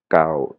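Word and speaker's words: เก่า: Et là, pareil mais avec une intonation basse, "Khao". "Khao", c'est quelque chose d'ancien, "Khao", quelque chose d'ancien et tandis "Khao" avec l'intonation aiguë, là, c'est le chiffre neuf.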